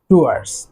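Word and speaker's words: towards: সো এই টুয়ার্ডস শব্দটিতেও কিন্তু ডাব্লিউ যে লেটারটি রয়েছে এটি কিন্তু সাইলেন্ট থাকবে, টুয়ার্ডস, দিকে।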